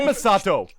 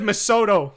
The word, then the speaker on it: Misato: I said Misato. No, you said Misoto. Oh, I did. You said you like butchered that name in ways that I didn't even think was possible.